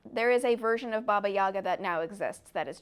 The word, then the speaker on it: Baba Yaga: good news for you you're pronouncing Baba Yaga correctly in Polish I have been told